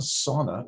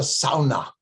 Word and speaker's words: sauna: She would say, it's not a sauna, it's a sauna.